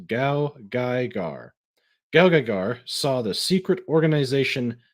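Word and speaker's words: GaoGaiGar: Oh, okay, that's how it's pronounced. Gao Gaigar.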